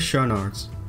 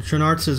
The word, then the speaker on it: Schoenaerts: Is that really how you pronounce his name? Schoenaerts. Good to know. Matthias Schoenaerts, of course. Our Belgian. Is that how I say it, Schoenaerts? Schoenaerts. Schoenaerts. I've been saying Schoenaerts. Schoenaerts. Schoenaerts. And hi, I'm Matthias Schoenaerts. He doesn't even know how to say his name to the people so they can, like, you know. Enunciate it? Yeah. No, because the Flemish way is absolutely not the English way, so.